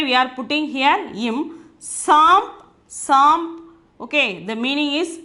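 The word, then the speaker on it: साँप: Before the pa, we are having bindu. So, we have to pronounce it as samp.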